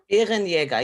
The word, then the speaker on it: Bärenjäger: It's called, again, Bärenjäger. Bärenjäger, yes. You say it pretty Bärenjäger. good. Yeah, Okay. we speak in the throat.